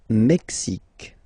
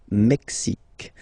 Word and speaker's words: Mexique: Le Mexique. Mexique. It's really the X. Huh? Le Mexique. And then remember this Q-U-E, it's only K. Mexique.